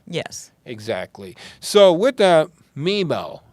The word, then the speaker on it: Memel: So with that, Memel, that's how you pronounce it, right?